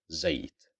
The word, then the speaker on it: زيت: Because of the fatha, we pronounce it as za, زيت.